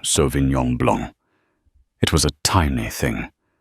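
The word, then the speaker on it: Sauvignon Blanc: The Sovenon Blanc. She pronounced it with a hard flat G and an anglicized blank. An excellent choice, ma'am. Mirabel said her professionalism unwavering. The 2022 from Ser is particularly crisp this season. She pronounced it correctly softly without a hint of correction in her tone. So Vinyong Blong, it was a tiny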